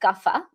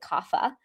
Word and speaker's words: Kapha: The third one is called Kapha, or in the West, we pronounce it Kapha.